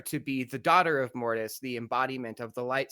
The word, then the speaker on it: Mortis: Am I pronouncing this properly? Mortise.